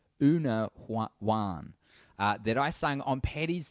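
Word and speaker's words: Úna Bhán: It's an Irish song called Una Ban. Oh, she's got a pronunciation guide. That's so good. Una Wan.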